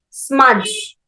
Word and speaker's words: smudge: Smudge, SMUDGE smudge. And whenever you are saying or pronouncing these words, you should not pronounce fridge, smudge. That is wrong. DGE completely, its pronunciation is J.